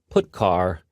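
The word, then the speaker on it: putchar: these three are the most popular they are pronounced print F put car and puts each function is designed to send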